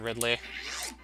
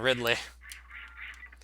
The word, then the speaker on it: Ridley: Was anyone like, oh, Ridley, as in the Metroid villain, Ridley? Yeah, that sounds like a pterodactyl name, more so than like a name for a human. Pronounce it Riley. So without the D.